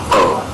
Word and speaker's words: Oh: Mister, how do I say your last name? Oh. It's pronounced Oh. That's what I said.